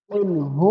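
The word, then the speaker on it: قُلْ: বিসমিল্লাহির রাহমানির রাহিম কুলহু আল্লাহু আহাদ কুল এই শব্দটা আপনারা ভালো করে শুনে উচ্চারণ করবা যে আমাদের গলার মধ্যে যে কলব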